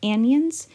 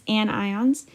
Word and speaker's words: anion: you can also remember, because a lot of people will mispronounce this as anions, but it's not, it's anions. But it kind of looks like onions.